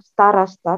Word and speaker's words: староста: Tekanannya di sini, Alfi. Miss udah gambar. Oh, tanpa tekanan dibacanya apa, Alfi? A. Da, starasta, takda.